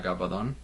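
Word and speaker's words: Gabaldon: this is Outlander by Diana gabadon that's how you say it magic of books um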